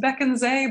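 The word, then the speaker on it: Bekandze: And, you know, you would not know it is pronounced Bekenze by looking at it that way.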